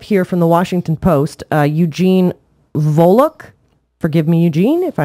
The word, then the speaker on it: Eugene Volokh: Eugene Volokh, forgive me, Eugene, if I mispronounce your name. Actually, he was one of my professors at UCLA. Really? Yeah, Eugene Volokh. Yeah, you pronounced it correctly.